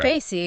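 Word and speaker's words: Cayce: It's currently located at 1601 Frink Street in Casey, that's pronounced Casey, right? Casey, exactly.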